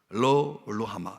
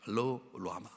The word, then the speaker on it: 로루하마: 로루하마 이렇게 발음해야 됩니다. 로루하마.